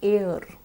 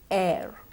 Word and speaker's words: air: Now all of us tend to say air, but that is incorrect. What we need to say is air, air.